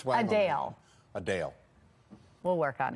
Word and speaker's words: Adele: while many pronounce It Adele as you just heard me say the singer says it's actually pronounced a Dale she noted the correction